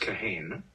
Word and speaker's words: Kahane: whether his name was Kahan or kahain and uh this was his response my name is pronounced kahain a very funny story because it's spelled the exactly the same as a common suu name kahane oh I was